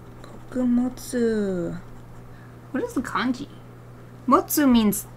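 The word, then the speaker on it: 物: Motsu means... It's the same kanji. It's used for lots of things. It could also be pronounced mono or butsu.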